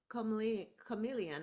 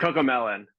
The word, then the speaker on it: CoComelon: He's also worked on advertisements for Netflix, Cadillac, Capital One, and the popular children's brands Chameleon. I think I'm saying it right. Cocomelon.